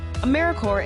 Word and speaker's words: AmeriCorps: make that same mistake americorps is alive and well just spelled with a silent p so think of apple core or core of the earth now that we have